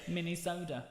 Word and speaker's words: Minnesota: minnesota yeah he's alive in minnesota it's like a really small can of coke mini soda oh my gosh and that is the comedy there we go so if you ever need to know how to say it mini soda oh well like going